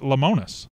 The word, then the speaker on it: Lemonis: no I have not WTVA Burnett pronounced it lemonis Sean Barker that's what I've been going with that's good still any